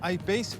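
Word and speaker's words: I-Pace: jour une nouveauté anglais c'est la jaguar eyed peas ou alors y passe pour une prononciation à la française c'est un suv de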